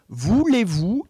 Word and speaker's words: voulez-vous: teacher and I'm like listen so the correct pronunciation is voulez-vous and then she goes ba la beau touche